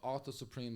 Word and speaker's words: Author Supreem: But Author Supreem, like a book author, so not King Arthur.